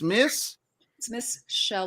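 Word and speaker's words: Michelle: It's Miss Shell, like seashell.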